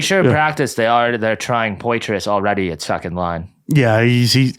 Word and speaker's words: Poitras: Well, I'm pretty sure in practice they're trying Poitras already at second line. Yeah, I don't even know how to say his last name. He's like Petrie. It's like a Petri dish.